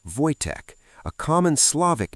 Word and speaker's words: Wojtek: They name him Wojtek, pronounced Wojtek, a common Slavic name meaning "he who enjoys war" or "smiling warrior".